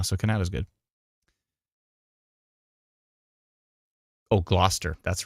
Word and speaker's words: Gloucester: is how it's pronounced it's Gloucester it's not glester it's Gloucester please Adam please people just